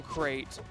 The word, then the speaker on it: Crate: And I think that speaks to how game number one went with the oppression from Crate. Uh yeah, rhymes with great.